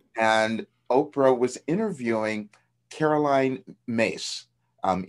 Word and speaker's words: Myss: oprah was interviewing caroline mace um myss is how you spell it and i think you pronounce it mace but she's she's interviewing